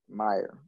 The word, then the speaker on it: Meier: Meier.